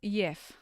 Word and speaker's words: Jeff: It's pronounced Yef. This is Yef. Hello, Yef. Yef.